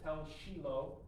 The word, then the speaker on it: Tel Shiloh: And so this is called Tel Shiloh, or as they say it over there, they pronounce it Tel Shiloh.